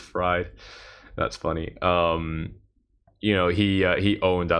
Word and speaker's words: Fried: you very much uh Robert says it's freed but now pronounced fried that's funny um you